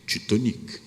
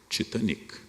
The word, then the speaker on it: Titanic: disse afundou o titanic essa pronúncia existe até hoje ora é um navio britânico não há nenhum motivo para chamar o navio inglês de titanic eu digo inglês o dia em português porque é que opto por pronunciar de forma francófona porque toda elite brasileira falava francês éramos todos os francófonos e o navio era